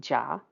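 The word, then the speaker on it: 己: And these are pronounced jia, yi, bing, ding, and I'll try to be very careful with those two because they're very close together in pronunciation. Wu, ji, geng, xin, ren, and kui.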